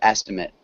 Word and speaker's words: estimate: The first syllable is stressed in both of them. In the second verb, we have the long A sound. And then estimate. with the noun.